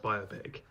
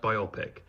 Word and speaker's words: biopic: It's always been pronounced biopic. It has never been pronounced biopic. I see these people now, they're like, oh, I never know which one it is. It's the correct one. Biopic. Biopic is not a thing.